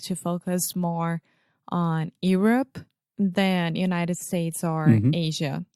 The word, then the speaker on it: Europe: I hear a lot of Europe, a lot of Europe, but we just say you're. Like you're going to the mall. Europe.